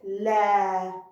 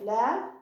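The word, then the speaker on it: لا: Okay, so lam with fatha, la. After it alif, so it's long fatha, la.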